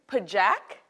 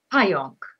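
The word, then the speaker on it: pająk: Pajak? Oh, Pajonk. But that's a J. There's a J, right? But there's a J. So the J is a Y sound, so it's a Pajonk. Pajonk.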